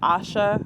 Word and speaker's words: Asha: I am also Asha. That's what the ASA is pronounced. It's pronounced Asha, which means this tradition saves me.